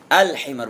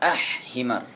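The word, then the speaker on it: الحمار: surga surgaabi yang keempat ha alhimar apa himar Nam alhimar Bukan ah himar cara bacanya ke kelima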